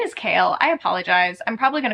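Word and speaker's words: Chaol: I'm probably going to call him Cole a couple times cuz I called him Cole for a really long time and then someone corrected me and it is Kale.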